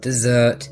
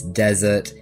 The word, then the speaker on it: desert: street quite recently that I pronounce the sword desert wrong it's not dessert it's desert and I'm aware of